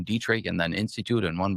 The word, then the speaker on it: Dietrich: Dietri Dietrich which is spelled like diet like a diet coke d i e t and then rich the opposite of poor.